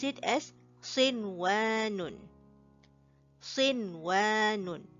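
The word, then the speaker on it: صِنْوَانٌ: Notice that we say sin and then wa. We do not merge them, or we do not make a nasal sound out of it. Okay, it is just a direct pronunciation.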